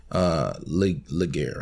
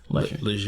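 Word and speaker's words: Legere: right now is in a great position, and I feel like Laguerre, right? John Laguerre. I feel like John Laguerre. Leisure. That's how you pronounce it.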